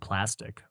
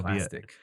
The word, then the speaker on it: Plastiq: within the last year of a website called Plastic, which is really cool. For those you don't know, I think it's spelled PLASTIQ.